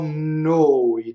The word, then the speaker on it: noi: Oh no, it doesn't rhyme with boy. It rhymes with David Bowie.